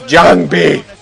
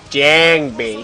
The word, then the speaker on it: Jangbi: So it's JangBi, not JangBi.